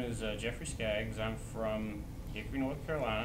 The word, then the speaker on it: Jeffrey Skaggs: from first of all okay my name is jeffrey skaggs i'm from hickory north carolina i've been here